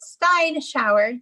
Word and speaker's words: Steinschauer: So it was Steinschauer.